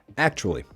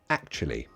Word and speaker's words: actually: In an American accent, it would be actually. British would be actually. Actually. Actually. Actually. Be careful not to pronounce that uali. So you don't pronounce that sound.